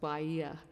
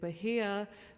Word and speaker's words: Bahia: like Apple um also if you're in South America it's pronounced Bahia but I say it but here because mine is actually